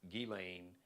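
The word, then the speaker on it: Ghislaine: But now Galain, her name is Gileain. I've heard, you know, so many different pron pronunciations, but I believe Galain or Gileain Maxwell, she basically was the recruiter.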